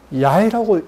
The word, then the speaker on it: 야훼: 근데 이 여호와가 실은 오래전부터 그리고 지금도 유대인들은 야훼라고 읽습니다.